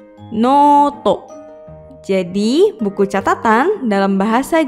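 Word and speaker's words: ノート: Ditulis dengan huruf katakana menggunakan huruf no, strip, to, noto.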